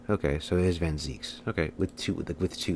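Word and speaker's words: van Zieks: is a Dutch name and and iie is pronounced e okay so it is vanz okay with two with two e okay I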